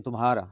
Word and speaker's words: تمہارا: بولا جا رہا ہے، لیکن تمہارا ہمارے ہاں اردو میں میم ہے، تمہارا یوں اس کو پڑھا جاتا ہے اور یہ اس کا تلفظ صحیح ہے۔ اسی طرح یہ تمہاری